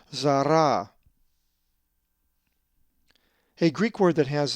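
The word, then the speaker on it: Ζαρά: The accent is over the second alpha, so therefore it is pronounced zara.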